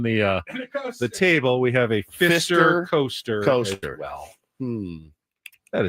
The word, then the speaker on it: Pfister: Fister? Yeah, absolutely. So good. And it's spelled Pfister.